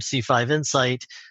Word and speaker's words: C5 Insight: C5 Insight, actually, we pronounce it singularly here, although a lot of people say insights.